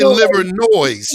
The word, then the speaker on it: Livernois: That's how you know you're from Detroit, because you pronounce the S. Everybody knows Livernois, but if you're from Detroit, you got to say Livernois. You got to say it.